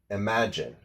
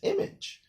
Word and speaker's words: imagine: I often notice that when a lot of students see the word imagine, I-M-A-G-I-N-E, spelled out, they often pronounce it as image.